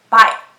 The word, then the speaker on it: bike: Here, the E is silent and the I is long. So we pronounce this as bike.